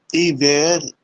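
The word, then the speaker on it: hiver: ايتي، وراها اوتما اللي هو الخريف، اوتما الخريف، وراها الايفير، ما يلفظ الاتش، ايفير يعني الاتش دائما باللغة الفرنسية هو يسمونه سيلانس، يكون ساكت، فما يلفظ الاسم، ما يلفظ، وانما تلفظ ايفير، ايفير، ايفير الشتاء، ثم لوب خانتم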